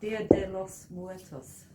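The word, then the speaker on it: Día de los Muertos: How do you pronounce that? Dia de los Muertos.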